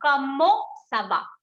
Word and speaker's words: comment ça va: So T we are not going to pronounce, E-N we are going to give a on sound. So comment ça va.